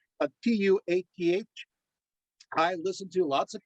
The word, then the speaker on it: Tuatha: By the way, it's spelled Tuath. I listened to lots of Celtic the recordings. The th is silent. Yeah, so it's Tua, and you stop there.